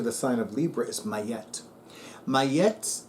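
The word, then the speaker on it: Ma'at: but in English it's Robert she said it's pronounced mayette I'm not going to argue with her at all so may yet capital M lowercase a apostrophe lowercase a lowercase T mayette the Egyptian goddess of truth justice and Cosmic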